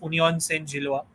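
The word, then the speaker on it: Union Saint-Gilloise: uh, and you, yeah, it's pronounced as, again, if you are confused, it's Union Saint Gilloise.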